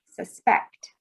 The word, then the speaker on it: suspect: a verb so suspect so suspect is a verb and suspect is a noun we spell it the same way but we change how we say it so when we look